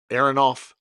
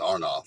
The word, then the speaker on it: Aronoff: um Michael Anthony and I always say his last name wrong Aronoff uh it's arnoff I think yeah arnoff arnoff uh